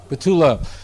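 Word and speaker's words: בתולה: Betula.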